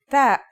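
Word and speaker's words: ت: The pronunciation is like the English T, except you should release your breath with a strong burst of air.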